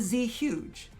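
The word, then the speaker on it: Zhuge: Another name with a Chinese background is the Z huge. Z huge. Z huge. As you can see, that E influences the U to make it pronounced as a U, and we have no H erasure. So again, Z huge.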